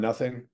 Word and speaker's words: Nothing: My noting, my not. The Shakespeare play, Much Ado About Nothing. It would have been pronounced in that time as Much Ado About Noting.